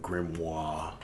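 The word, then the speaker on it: grimoire: in the form of grimoir and whatnot. Is that plural for grimois? You don't pronounce the R. It's French.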